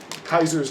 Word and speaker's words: Caesar: called the Legion who Kaiser's legions or Caesars depending on how you say it Kaiser who based themselves well I don't know I mean they go more Roman which would be Caesar but you know not Latin.